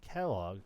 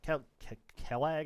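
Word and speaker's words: Quelaag: Now, there also is a little something depressing about this boss actually cuz the lore behind Kellogg, Kell Kellag, I think it's actually pronounced, but I just call her Kelloggs is uh she's actually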